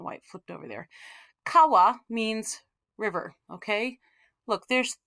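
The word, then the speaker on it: 川: these so first of all let's start with kawa oops i don't know why it flipped over there kawa means river okay look there's three three lines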